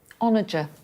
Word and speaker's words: onager: I don't know how to say this word. Is it onager? Apparently it is.